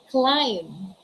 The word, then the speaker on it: climb: examples we have these examples we have home bomb thong climb tomb prom and lamb what are the other english words you know having this first rule when it comes to silent letter b come on share your